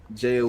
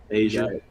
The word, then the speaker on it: Aja: Yeah, and then Jaya Wilson out in Vegas. Asia. My bad, Asia. I thought it was a Jaya because it's spelled different. AJA. It's 3 letters.